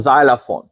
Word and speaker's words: xylophone: लिखिजे ॿई एक्स आहिनि, पर उन जो उचार प्रोनाउंसिएशन जेको आहे उहो अ न आहे, तॾहिं उहो आहे ज़, त उनखे चइबो आहे ज़ाइलाफोन.